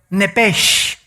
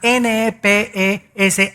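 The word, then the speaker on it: nephesh: esa palabra alma es la palabra hebrea nepes así como suena n e p e s h nepes la palabra la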